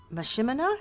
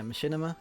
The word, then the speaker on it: machinima: it's based on the Skyrim uh uh Oblivion Machima. Is that how you pronounce it? Yeah. Machinima.